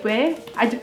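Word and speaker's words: ouais: their own version and it's spelled o u a i s so if you now say where i it's just like adding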